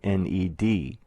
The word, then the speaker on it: Ned: the previous line spelling n-e-d pronounced ned ned has been used